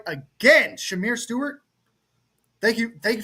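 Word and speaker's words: Shemar: Like you angrily clicked like you take Shamar Stewart. You take it and you're like, "Oh, that that actually makes sense." Uh, it's Shamir. You're pronouncing it's Shamir.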